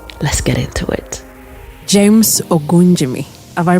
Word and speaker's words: Ogunjimi: James Ogunjimi. Have I pronounced it right?